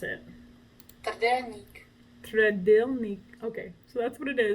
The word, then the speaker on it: trdelník: Republic in general, that's absolutely delicious, is the trdelník. I don't know how to say it exactly. Let's go to Google for that. Yeah, so I sort of messed it up. This is how you pronounce it. Trdelník.